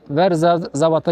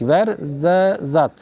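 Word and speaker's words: Ouarzazate: Çöl yolunda Verzabat'a geldik. Verzat. Verzat yani zerzavatın bir türü. Yani yazılışı ayrı, okunuşu ayrı.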